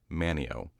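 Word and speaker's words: Manteo: that it is pronounced Manio, despite there being a T in the word.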